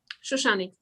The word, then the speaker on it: Shoshanik: It's Shoshanik. Shoshanik. Yes? Shoshanik. That's okay. No, okay. No, okay. Shoshanik. I want to have it right. Shoshanik? Shoshanik. Shoshanik. Yes, that's correct.